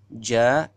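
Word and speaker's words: ج: Nomor 7 yaitu huruf, ada 3 hurufnya, yaitu shin, sin besar, ja dan ya.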